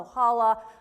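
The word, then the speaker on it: ojalá: it but it is spelled o j a l a maybe it's ojala ohala but in spanish it would have an accent on the last a o hala o hala means a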